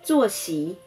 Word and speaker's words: 作息: 坐席，坐声调第四声，席声调第二声。坐席，坐席，坐席。